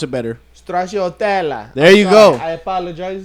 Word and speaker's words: stracciatella: wrong, but Stracciatella. I'm not too familiar with. I wonder- Strosadella.